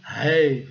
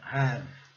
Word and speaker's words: have: Teoricamente seria have, né? Mas não é, claro que não. Então é have.